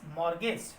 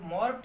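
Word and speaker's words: mortgage: Next one इज मॉर्गेज। देखिए टी या silent होता है, कोई मॉर्ट ना रीड करें, क्या रीड करेंगे, मॉर्गेज।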